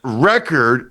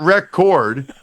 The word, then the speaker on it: record: but the word is pronounced record, not record.